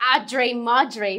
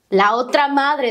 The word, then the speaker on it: la otra madre: I have no idea where you got Audre Madre from. Otra madre. La otra madre, that's how you say it.